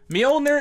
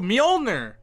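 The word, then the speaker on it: Mjölnir: quick buzzing persona it what is mjolnir myoner is that's a that's the correct pronunciation too mjolnir very nice very nice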